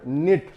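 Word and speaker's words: knit: यहां पर साइलेंट होगा यह हो गया वर्ड नित के साइलेंट नेट बन्ना जैसे मीटिंग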